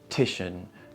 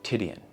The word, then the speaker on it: Titian: by this renaissance painter titian apparently it's pronounced titian not tidian so after entering the